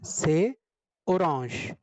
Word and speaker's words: orange: Spelling is same as in English, but the pronunciation is little different. A we are pronouncing A. As you all of you already know, A is pronounced as A in French, not A.